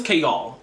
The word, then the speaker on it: Chaol: to go back to not kayle k all his name is chaol like that's what pronunciation guide says i listened to the